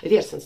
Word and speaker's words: Versace: Вот многие сравнивают Versace, да, правильно читается, с летним теплым днем на берегу океана.